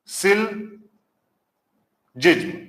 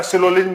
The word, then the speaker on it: syllogism: सही उच्चारण होता है इसको हम पढ़ते हैं सिल जिज्म बोलने को तो हम कुछ भी बोल द है ना सिलिम बोल देते हैं जो हमारी जबान